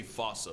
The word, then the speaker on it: fossa: Though with its spelling, I'm pretty sure it's actually Fossa, but the day I pronounce it like that is the day I lay my childhood to rest. The Fusa is pretty much a Madagascar mongoose.